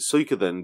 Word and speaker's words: Suikoden: I've always pronounced it Suikoden because there's the Japanese word Suika, which is spelled S. In English, it would be spelled S-U-I-K-A. Mm-hmm. So I've always pronounced it Suikoden based on that.